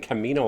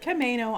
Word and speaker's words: Camano: I am in the Menehune Terrace in Camino Island. And how you say it? Camano Island.